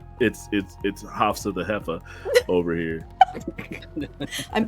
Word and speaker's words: Hafsa: Of Hefsa. Or yes, I'm gonna have to. If I said her name wrong just now, I'm sorry. It's okay, it's Hafsa. You're fine.